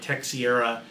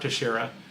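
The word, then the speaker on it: Teixeira: first talked about him, I butchered his last name. I think I called him like Tech Sierra, and the guy that I was doing the show with looked at me like, "What's wrong with you?" That's how I read it. Right. Well, that is how phonetically it's read, but it is Mark Terara.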